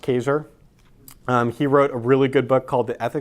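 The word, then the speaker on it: Kaczor: Christopher Kaiser was dispelled ka czo are but pronounced Kaiser he wrote a really good book called the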